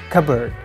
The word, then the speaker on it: cupboard: is all about simplifying if you say like cup bird there is a little bit pause between cup and bird and it's kind of hard to pronounce cup bird it's easy to say cupboard dropping P makes it a little